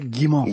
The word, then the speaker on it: Guimont: And today we have had Guimo. Tell me how to say it again. That's right. Gimmo.